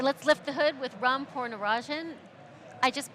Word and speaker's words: Ram Poornachandran: All right, let's lift the hood with Ram Poornachandran. I just butchered your name. One more time. Ram Poornachandran.